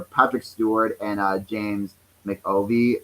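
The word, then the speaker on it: McAvoy: stewart and uh james mcovie am i pronouncing the last name right um they're patrols are really yeah mcafee mcafee yeah yeah that's it they're betrayals were really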